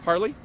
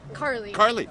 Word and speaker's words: Carley: - Harley? Carley. Yeah. C-A-R-L-E-Y. Yes, no one spells it right. Oh my goodness since I mispronounced it, I had to spell it right.